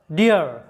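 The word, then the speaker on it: deer: vowel দুটির উচ্চারণটা হবে ইয়া এরকম ইয়া এরকম উচ্চারণ হবে যেমন উদাহরণস্বরূপ দেখো ডি ডাবল ই আর ডিয়ার এখানে লক্ষ্য করো যে ডিয়ার শব্দের শেষে কি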